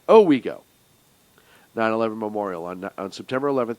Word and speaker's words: Owego: The text on the monument reads, Town of Oswego, Owego. I pronounced it wrong. Owego.